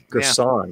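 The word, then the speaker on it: Girsan: Gerson, yeah.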